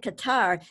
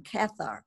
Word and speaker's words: Cathar: listen to it oh alex you're pronouncing it qatar so i've been pronouncing it wrong all this time i was always saying cathart but it could do you